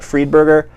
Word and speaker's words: Friedberger: Eleanor Friedberger Friedberger, it basically is spelled, but Friedberger.